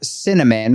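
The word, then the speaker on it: Synamin: Honest to God, she named her Cinnamon, which is spelled s y n a m i n pronounced cinnamon.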